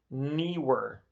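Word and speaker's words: Neewer: been a brand called newer newer it's like newer with an extra e in the middle n-e-e-w-e-r and i think that's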